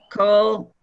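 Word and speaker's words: כל: Aleham, Rav, Lachem, Ki, Kol, or is that Kol or Kal? I always have confusion with that. It's always either kol or chol. Here it's chol. It's always o.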